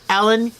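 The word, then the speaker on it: Elin: So just remember, her name is spelled E-L-I-N, but it's Ellen Hildebrand, and they're on YouTube.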